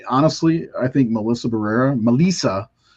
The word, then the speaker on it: Melissa: I think Melissa Barrera Melissa is actually how you pronounced her first name found that out today